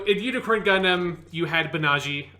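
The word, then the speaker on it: Banagher: unicorn gundam you had banaji um which is not the way that it's spelled it so it feels like a weird pronunciation in english but that's just how it sounds and any other pronunciation is so far away i just can't say it you're not going to say baniager that doesn't it just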